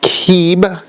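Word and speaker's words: Kib: and then 3, and this is pronounced keeb, 3, keeb.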